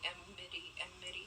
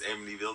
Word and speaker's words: Amityville: I was like, is it the horror movie Amity Emity? Horror. It's Amityville. The thing I just said. Oh, yeah. Can't pronounce words.